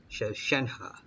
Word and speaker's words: Shenhe: Alright, so I've been pronouncing it wrong the whole time. Shenhe.